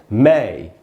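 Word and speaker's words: May: मे एकदम गलत उच्चारण है, मे नहीं होगा, मई, ऐसे हमको बोलना चाहिए।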